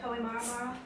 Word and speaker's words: Kohimarama: Kohimarama. I'll let her pronounce everything because I'm going to be terrible at it.